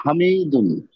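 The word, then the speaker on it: حامدٌ: হিসেবে কি পড়বো স্যার হামিদুন হ্যা উচ্চারণটা একটু সুন্দর করে করেন হাতে টান হবে গুড আচ্ছা মানসুবে কি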